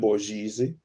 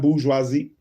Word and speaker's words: bourgeoisie: merchants and the wealthy agents of the maritime bourgeoisie were included with, let me look up that word, how to pronounce that word.